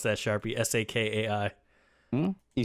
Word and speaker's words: Sakai: Or how would you pronounce that, Sharpie? Sakai?